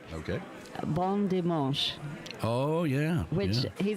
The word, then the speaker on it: bon dimanche: Bon dimanche.